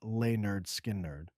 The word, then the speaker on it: Lynyrd Skynyrd: In 1973, Lineard Skynerd released their debut album, pronounced Lay Nerd Skin Nerd.